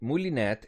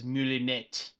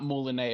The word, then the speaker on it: moulinet: And if you're thinking of how to pronounce it in French, the technical pronunciation is moulinet, Moulinet. I believe. Yes. Yeah. Not moulinet, apparently. Yeah, I heard some English speaking people say Moulinet. Right, But yeah? yeah, it's Moulinet.